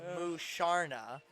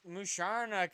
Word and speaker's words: Musharna: Also, the other one is Musharna, spell which so that U is pronounced oo.